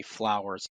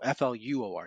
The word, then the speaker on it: Fluor: This is a story about a maintenance worker, and I'm probably gonna mispronounce the company, Flowers, Fluor. No, Fluor, yeah.